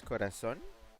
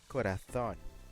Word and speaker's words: corazón: Because here in Latin America, we say it as corazón. Despite writing it with a Z, because the word is spelled C-O-R-A-Z-O-N. It's spelled the same in Spain. But in Spain they don't say corazón. In Spain they say corazón. They actually use the freaking lift thing.